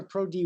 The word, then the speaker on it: ProDy: to tell us about elastic Network models and pro dye is it pro dye or pro d y d pro d pro d okay good this is the way you pronounce it yeah great so uh whenever you're